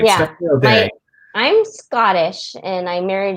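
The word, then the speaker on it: O'Dea: So, and is it O Dea? Is that how I say it? Okay, yeah. So I'm saying it right. Yeah. Stephanie O Dea.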